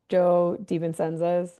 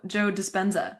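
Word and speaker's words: Joe Dispenza: they talked about was how and I always mispronounced Joe Devenenza. You say Joe. Oh, Joe Despensza. Despensza. Thank you. Despensza. Joe Despensza.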